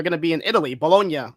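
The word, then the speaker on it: Bologna: to be in Italy bolognia that's how you pronounce it people bolog Italy um so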